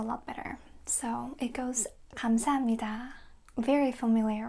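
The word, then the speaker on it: 감사합니다: Foreigners find it uh difficult to differentiate the letter k um and g. So, it's kam, not kam. K k, no. G g, yes. So, uh think of the country Ghana. It's like that, ga. But, subtle Korean way. Kamsahamnida, not kamsahamnida. You see the difference?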